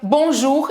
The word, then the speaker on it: bonjour: Você entendeu que se pronuncia bonjour e não bonjour? E não, sei lá, bonjour, tem que pronunciar o R no final e tudo mais.